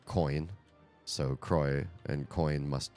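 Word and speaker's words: Croix: there like coin so Croy and coin must rhyme together in fact the company who makes the seltzer water says lroy it rhymes with joy somewhere on their website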